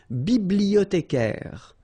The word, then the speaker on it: bibliothécaire: Then un bibliothécaire. Bibliothé. Remember, in French, the H doesn't exist, so you don't pronounce it.